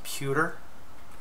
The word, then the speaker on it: Pewtor: i'm working on called pewter it's spelled almost exactly like tutor but with a p instead of ch and the game is